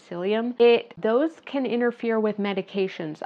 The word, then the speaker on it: psyllium: especially the psyllium husk, it's um spelled ps y, but you pronounce it psyllium.